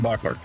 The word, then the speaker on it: Bachler: I recently was informed I wasn't pronouncing his name correctly. I got to get that into my brain here. Shane Bachler.